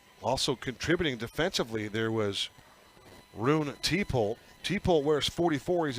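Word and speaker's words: Rune: contributing defensively there was roon t-pol t-pole wears 44 he's a junior linebacker roon is spelled r-u-n-e roon t-pole one of the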